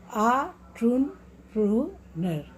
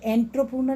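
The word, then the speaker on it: entrepreneur: आन, ए से इसका लिखा ई से है, प्रोनाउंसिएशन किससे हो रहा है, AH। ऑन्ट्रप्रूनर, ऑन्ट्रप्रूनर, ऑन्ट्रप्रूनर, इसको बार बार जब आप प्रैक्टिस करेंगे, ऑन्ट्रप्रूनर, ये एंट्रप्रूनर नहीं होता, ऑन्ट्रप्रूनर, ऑन्ट्रप्रूनर।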